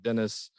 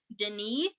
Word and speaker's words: Denis: I never know how to pronounce it because it looks like it should be pronounced one way, and then I've heard it and they're like Denis. Yeah, it's like Denis.